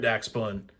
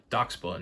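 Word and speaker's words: Dachsbun: gotten this one yet doc spun not Dax bun I was giving y'all crap earlier about saying Dash bun and I'm sitting here saying it wrong myself that's cool though so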